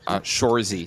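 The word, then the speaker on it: Shoresy: Shozy? Sure. Shorzy, so Shore.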